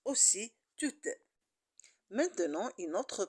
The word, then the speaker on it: tout: c'est le consenté et généralement on ne prononce pas les consonnes à la fin du mot un autre caractéristique c'est que le mot suivant aussi commence par une consonne alors je ne peux pas faire de liaison et je le prononce tout simplement tout on constate que soit